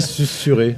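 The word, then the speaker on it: susurré: Euh que susurer euh ça s'écrit susuré en fait. Oui oui ouais mais ça se dit sussuré.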